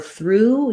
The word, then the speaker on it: through: For through, you would just see the oo symbol.